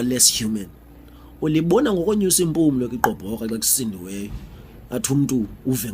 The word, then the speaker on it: Igqoboka: Igqoboka is pronounced Igqoboka.